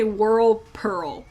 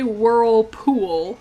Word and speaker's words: Whirlpool: Every single time I say Whirlpearl. I never say Whirlpool. I never pronounce it right. Every time it's Whirlpearl. Like pearl, like the gemstone, like diamond and pearl.